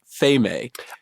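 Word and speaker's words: Pheme: this it's it's um a Greek goddess right which I think is is pronounced Fame I think so too which is funny because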